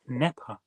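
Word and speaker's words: Knepper: Robert Nepper. Spelled with a K.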